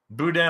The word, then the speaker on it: boudin: Boudin, I love boudin.